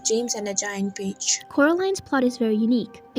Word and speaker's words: Coraline: she'd fallen into quarter land's name is always pronounced wrong as caroline not coraline by her neighbors mr b mrs pink